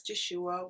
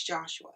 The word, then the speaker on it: Joshua: There are many different pronunciations of these names in the Bible, and I think I have been pronouncing this name as Joshua when in fact the pronunciation is Joshua.